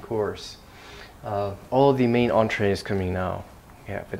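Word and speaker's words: entrée: number five entre so this is from French it's pronounced entree or untie in French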